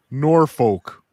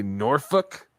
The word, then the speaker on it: Norfolk: Norfolk. Oh, wow. But don't some people say Norfolk? Yeah, they're stupid. Interesting. So in Minnesota, they say Norfolk.